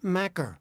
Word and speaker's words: Makar: She is Scotland's Makar. Rhymes with lacker, she told me.